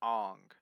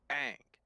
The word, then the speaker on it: Aang: mispronounce aang because um when you pronounce it ong you're assuming that the first a is silent so you're only saying a ing versus like the proper pronunciation is saying both so ang instead of on which